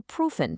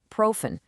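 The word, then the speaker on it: prüfen: The embassy will proofen. That's profen, which means to check or review your application.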